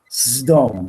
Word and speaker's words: Sodom: Sdom, we actually pronounce it.